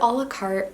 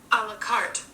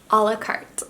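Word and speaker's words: à la carte: I said this wrong the last time, and I still don't know how to say it. One second, please hold. A la carte. A la carte, not a la carte.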